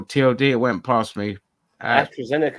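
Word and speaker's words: AstraZeneca: it went past me Astro zenica that's how you say it okay yeah how did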